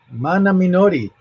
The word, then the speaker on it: Mana Minori: That's easy for me because most languages are pronounced like Spanish. English is, believe it or not, one of the weird languages, you know, like where the alphabet A, E, I, O, U, where the vowels are not pronounced like they are in all Romance languages, right? Like A, E, I, O, U, or even Japanese.